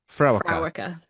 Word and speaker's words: Fréwaka: Um, and I've forgotten the pronunciation of it already. Fraa. Fraa.